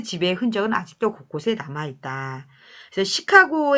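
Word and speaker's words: Chicago: 흔적은 아직도 곳곳에 남아있다 시카고 의 영어식 발음으로 읽으면 치카 고 라고 발음해야 한다 하지만 이 도시의 이름을 정한 사람들이 프랑스 이미 얻기 때문에 그들의 발음대로 지금까지 부르고 있다 그래서 시카고 블레이 뜻은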